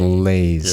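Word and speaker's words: Lais: i s yeah I it's just lays Li Li is freelance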